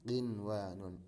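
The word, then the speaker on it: قنوان: Jadi bacanya bukan buya, bukan duya, bukan siwa atau qiwa, tidak. Tapi ini baca seperti adanya. Bunyanun, dunyaya, sinwanun, qinwanun.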